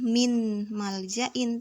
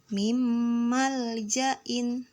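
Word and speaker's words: من مال: mim Mal Jain di membacanya bukan minmal Jain tapi Meme Mal Zain Ya situ ada huruf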